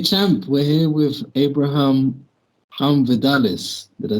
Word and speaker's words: Vidales: Okay, champ, we're here with Abraham Vidales. Did I say it correctly, Yeah, champ? yeah, you Vidales? do. Vidales, yes.